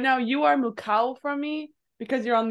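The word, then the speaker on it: 向こう: Kagao? Good guess. It's actually mu or mukao.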